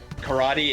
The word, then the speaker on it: karate: Karate in Japanese is pronounced basically the same way that SpongeBob SquarePants pronounces it. Yeah. Karate. Yeah, I mean, basically, it's A instead of E. It's karate.